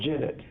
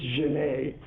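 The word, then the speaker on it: genet: the citizen janae affair g-e-n-e-t for you country guys that's called jennet for people who speak french it's janae english people like doing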